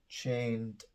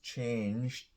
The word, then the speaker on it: changed: at the end so don't just say for example chained it's it's changed changed okay the infinitive first change completely changed and the line indicates